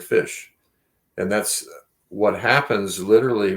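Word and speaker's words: ghoti: the gh sound and enough is pronounced like an f and the o in women makes the short i sound and the t ion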